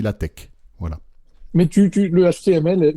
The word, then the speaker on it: LaTeX: mettez pas au lattech ça s'écrit latex mais on dit la tech voilà mais tu le